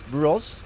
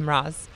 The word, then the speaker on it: Mroz: Mroz? Yeah, it's Mroz. Mm-hmm. Mroz. And it's Polish. That's right. So the O actually is supposed to be read as a U, but since there is